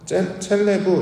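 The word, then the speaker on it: צלב: 두 번째, 십자가는 히브리어 원어로는 첼레브 이렇게 발음합니다.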